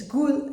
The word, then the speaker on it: Gud: It's Gud, G-U-D, Gud.